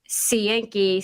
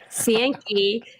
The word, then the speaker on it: Cienki: And that's Cienki, Cienki, Cienki. That's it. Cienki. It's spelled exactly the way it sounds.